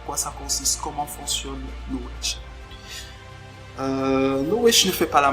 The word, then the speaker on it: Knowage: Je vous donne l'orthographe juste. C'est Knowedge. Bon, mon anglais n'est pas très bon, mais je crois que c'est ça la prononciation.